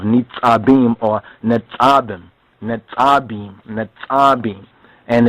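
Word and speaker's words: נצבים: within our booklet, but if you were to look at the Hebrew, it will actually be NETSABIYM, according to the Nukad, the dotting system that they have, NETSABIYM or NETSABIYM, and it's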